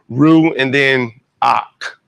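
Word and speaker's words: רוּחַ: Ru and then ak. The vowel actually comes before it.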